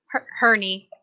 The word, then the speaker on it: Herney: Herney. It's like Henry, but spelled a little differently. We call him Herney.